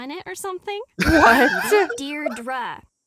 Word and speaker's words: Deirdre: Deirdre. I know it's got that tricky second syllable, but I figured it out by age 2. Don't give up. You'll get there. I love her so much. Deidre.